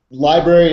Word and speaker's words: LBRY: we're here with the library. unless you guys go by the more acronym term now uh library is absolutely how you pronounce it we say lbr y